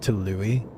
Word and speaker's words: Tyilui: Google says it's pronounced Tyilui.